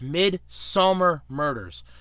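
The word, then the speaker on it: Midsomer Murders: And I did pronounce that correctly. It's Midsummer Murders.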